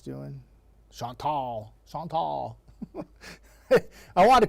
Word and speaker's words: Chantal: I wanted to call it Chantel, but I did some research and I watched all these meteorologists in the Carolinas, and they're all calling it Chantal. So I said, okay, and I checked the pronunciation. It was the same.